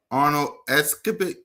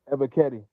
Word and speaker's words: Ebiketie: So the next guy we got is Arnold Escapit. Like, how you say his name, Smitty? Ebiketie.